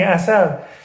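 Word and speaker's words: عسل: Persian word of the day is honey, asal. Asal, honey, 2 syllables.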